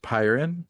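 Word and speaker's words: Pyrynn: way Sam pronounced it I pronounce it pyin because pyro Technic and it's a fire tech God damn it that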